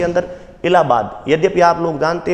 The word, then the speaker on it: इलाहाबाद: अलाहाबाद भी बोलते हैं, इंग्लिश में यदि आप पढ़ते हो तो अलाहाबाद है, और हिंदी में पढ़ते हो तो उसको इलाहाबाद अपन उच्चारण करते हैं।